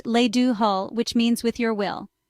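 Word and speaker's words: le do thoil: In Irish, it's le do toile, pronounced le do hull, which means with your will.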